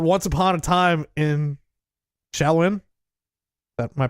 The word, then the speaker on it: Shaolin: He bought a double album called Once Upon a Time in Shaolin. Am I pronouncing that correct? Yeah, Shaolin.